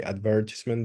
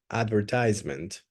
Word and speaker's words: advertisement: pronounce in different ways you can say advertisement the way I pronounce it which is the British word the British way or you can pronounce it in the American way which is advertisement advertisement both are completely 100% correct you can use whatever